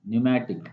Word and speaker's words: pneumatic: Okay, P is silent, pneumatic.